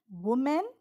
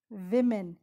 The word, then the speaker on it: women: almonds but not peanuts women or women it's not woman but it's women the plural of woman is women women okay it is